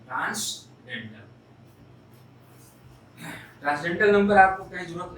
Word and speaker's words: transcendental: हम फिर से रिपीट कर रहे हैं, Leonard, not Leonhard, Leonard Euler, and this is transcendental, n is silent, transcendental।